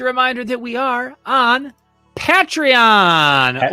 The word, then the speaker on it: Patreon: Now, before we move on, just a reminder that we are on Patreon. Or as it's actually pronounced Patreon.